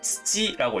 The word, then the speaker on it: 土: 그리고 훈독으로는 츠지라고 읽습니다. 츠지.